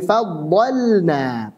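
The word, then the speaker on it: فضّلنا: Dan jelasnya huruf lam tersebut fi nahwi faddalna. Perhatikan, lam sukun pada fi'il ketemu dengan nun, maka dibaca dengan jelas.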